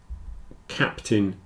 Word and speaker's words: captain: an e curtain certon whereas these two captain and Mountain it's a little more like an I but for the same reason the stress is on the first syllable the second syllable is contracted down a bit so in all four